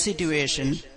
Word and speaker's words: situation: Did you know, Bobby, any word in English, in the middle of the word, if you have a TU, like situation, it's pronounced as a CH consonant sound.